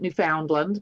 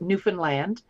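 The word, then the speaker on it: Newfoundland: in Canada without falling off the edge in newfinland a lot of people pronounce it New Foundland but it's uh natives call it Newan land um and uh yeah so I got to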